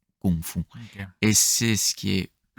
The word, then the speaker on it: kung fu: Et Kung fu euh pour le coup, il a écrit euh G F U Gfu. Donc pas fou mais kungfou.